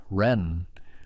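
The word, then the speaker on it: 仁: At the heart of Confucian thought is a concept called ren, pronounced something like ren with a rising tone, often translated as benevolence or humaness or loving kindness toward others.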